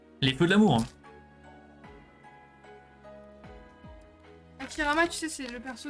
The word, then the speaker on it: Hashirama: Hashirama, tu sais, c'est le perso de Tanya, là. Non. Parce qu'en fait, elle le prononce tout le temps mal, et du coup, elle dit Hashimara.